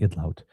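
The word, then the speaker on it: Idlout: I finally heard somebody say idlot and I think that that's the proper pronunciation of her last name because I was saying Idllet but it's lout I believe.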